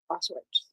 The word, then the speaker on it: Auschwitz: But today is the 80th anniversary of Auschwitz.